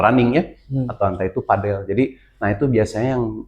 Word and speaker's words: padel: penyebutan ya pronounce ya antara padel atau padle gitu. Nah sebenarnya kalau misalkan padel itu yang mengacu pada lapangannya. Betul nama olahraganya padel disebutnya.